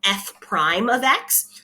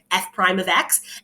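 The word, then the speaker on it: f′(x): That is called f prime of x. So whenever you see that notation, that is how you say it, f prime of x.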